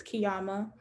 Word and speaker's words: Qiyamah: us that you know the proper way to pronounce it is kiama so yeah so we